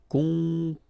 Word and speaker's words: composer: Composer. Okay, you pronounce it Z here because you've got two vowels and only one S.